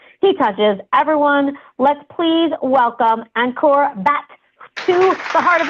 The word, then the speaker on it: Ankur: Everyone, let's please welcome Ankur Bhatt to the Heart of Influence. Welcome. I believe right? Is it? It's pronounced Ankur.